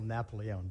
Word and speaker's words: Napolone: councilman Napier good evening it's napolone but that's okay it's mispronounced all the time sir um I'm a